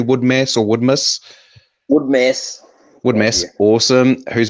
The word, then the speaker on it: Woodmass: We are here with Jason Woodmass, who is that, have I pronounced your surname correctly? Woodmass or Woodmass? Woodmass.